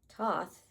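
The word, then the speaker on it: Thoth: Toth pronounced Toth, also known as Tahuti, is the ancient Egyptian ibis headed god of writing, divine magic, and the moon.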